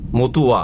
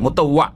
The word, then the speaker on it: মুতাওয়া: হাজি মতুয়া, মতুয়া নয় মোতাওয়া, ভালো করে উচ্চারণ শোন কি। কিন্তু আপনারা বাঙালিরা যে একামাকে আকামা আর মুতাওয়াকে মুতুয়া করে দিয়েছেন একবার। মুতুয়া না, আরে মুত তো পেশাবকে বলে, মুতুয়া করে দিয়েছেন না, মুতাওয়া।